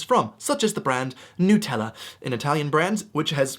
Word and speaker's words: Nutella: it is vehemently pronounced Nutella. Nutella. You have to make sure you have the accent on the nut.